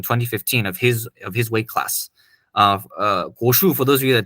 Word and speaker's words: Guoshu: He was actually the Guoshu Lei Tai champion in 2015 of his weight class. Guoshu, for those of you that don't know, is more of the traditional side.